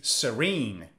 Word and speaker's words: serene: The Majestic whoa waterfalls next is serene Serene against races on the second syllable Serene but what does